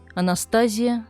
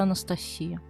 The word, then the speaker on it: Анастасия: Анастазия вместо Анастасия. Ударение не туда, звук не тот.